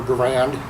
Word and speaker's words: Garand: things were invented by John garand or Rand as some people pronounce it and it was